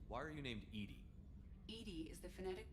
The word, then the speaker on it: EDI: into the voice why are you named edie edie is the phonetic pronunciation of edi that is an acronym for